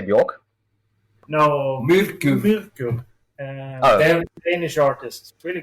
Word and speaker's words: Myrkur: But, I think the Myrkur album was really good.